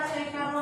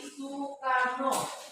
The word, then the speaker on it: Soekarno: Ejaan lama O diganti menjadi U sekarang ya. Makanya bukan dibaca Soekarno tapi Sukarno.